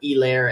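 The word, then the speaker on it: Helaire: a thing clyde edward solaire is gonna get or elaire as they made sure to pronounce it on thursday night so it's going to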